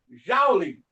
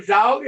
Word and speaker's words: Joule: Como é uma forma de energia, o calor é medido utilizado em Joule. Também tem gente que chama Joule, porque se escreve Joule, né?